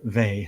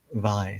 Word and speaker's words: Weil: There's some doubt as to how to pronounce her name, but the consensus seems to be V as opposed to VI.